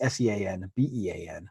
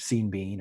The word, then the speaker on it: Sean Bean: bean the actor sean bean his name is s-e-a-n-b-e-a-n but it's pronounced sean bean instead of seeing bean or sean bond you need you really need